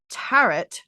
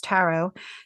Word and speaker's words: tarot: Share the episode with a friend who also says tarot, like carrot, because you know it's tarot.